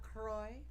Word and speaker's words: Croix: club soda yeah because you pronounce it cruel at CROI because they don't want people do using the French pronunciation Wow the st.